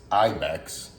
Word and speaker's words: Ibyx: a small company actually I didn't know how to pronounce the name of the company so I called this number uh it's Ibex I wrote it down